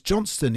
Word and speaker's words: Johnstone: uh and it's dve Jonstone he's changed right he's changed the pronunciation since moving to America it's yeah well he's Scottish isn't he yeah but he was Johnston in Scotland and and apparently